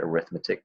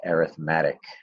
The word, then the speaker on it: arithmetic: sequences I know it looks like the word arithmetic because it is the word arithmetic but when dealing with sequence in series it's pronounced arithmetic okay so what is an arithmetic sequence first